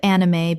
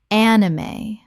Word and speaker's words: anime: Three syllables with the E pronounced at the end. Example, her love of anime began with one series